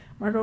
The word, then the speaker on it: Margot: And I would like to give a shout out to Margot T is silent, Marggo Martin and Jensen Keegan uh from my district and we are so appreciative of everyone's participating today.